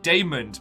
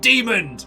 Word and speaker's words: Damond: But then Damond, because at the beginning when they're like, out Demond! And we're like, no, it's pronounced Damond!